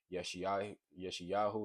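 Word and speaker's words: ישעיהו: Yeshayahu is how you say Isaiah.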